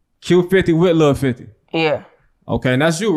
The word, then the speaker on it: Q50wLil50: That's how to pronounce the name. Q50wLil50. Say it again. Q50wLil50. Q50wLil50.